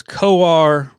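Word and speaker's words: Kowar: him kid yeah yeah i was mispronouncing his name as cow or it is koar and i apologize for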